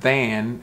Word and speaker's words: than: So here, the word than has a different TH is pronounced a little differently than think. So than is like a the sound.